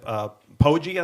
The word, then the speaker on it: Poggi: The win came against CMU with a different coach, Biff Poggi, I think. Is that how it's pronounced?